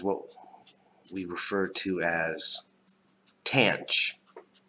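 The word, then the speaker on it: tanh: we refer to as tanch x. Rhymes with ranch, like the dressing.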